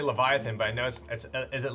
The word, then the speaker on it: Leviatán: It's the Leviathan. Accent on the A.